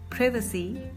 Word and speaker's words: privacy: In British English we pronounce it as privacy, privacy, and in American English we pronounce it as privacy, privacy, privacy, privacy.